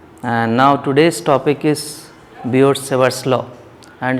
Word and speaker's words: Biot-Savart: T is silent here, we can call it Biot-Savart's law also.